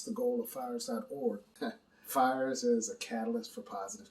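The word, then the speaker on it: PHIERS: we'll get into it okay well for starters fires is spelled p-h-i-e-r-s and it's an acronym that stands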